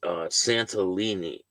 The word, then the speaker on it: Santillan: The suspect, identified by authorities as David, they spelled his name wrong. I believe it's Santillan. Well, that's what it says on here. It's Santillan.